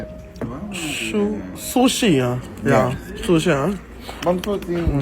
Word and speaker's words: sushi: Et tout le monde va filmer, il venait là avec le Lovencia qu'il faut lui manger chouchi. Qu'est-ce que tu dis? Chouchi. No, that's not how you say it. Sushi, hein?